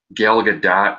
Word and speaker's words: Gal Gadot: mouth, but I think Gal Gadot, and yes, we found out that's actually how you say her name. it's exactly like it looks, and we know because that's how she pronounces it.